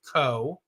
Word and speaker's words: Kough: But so my family name is Kough, pronounced Co.